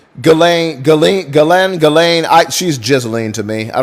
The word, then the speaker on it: Ghislaine: Her name was Ghislaine, she says, pronouncing her name Ghislaine.